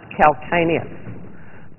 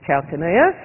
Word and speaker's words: calcaneus: Sometimes pronounced calcaneus, but I use the English pronunciation, which is calcaneus.